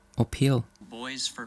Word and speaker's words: Pele: How do you say boys for Pele or Peel? Boys for Pele.